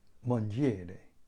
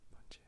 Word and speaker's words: mangiare: I don't know how to pronounce it, but it's spelled Mangiare. Mangiare.